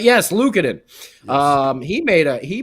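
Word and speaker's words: Luukkonen: you're correct am I saying it right yes Lucen um he made a he made a Dandy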